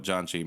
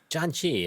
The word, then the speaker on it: janchi: you tell everybody what john chi means john chi i was just explaining this to somebody else recently um it is not spelled like the name john and it is j-a-n-c-h-i